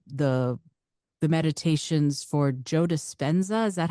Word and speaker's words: Dispenza: mentioned uh the the the meditations for Joe dispenza is that how you say his name yes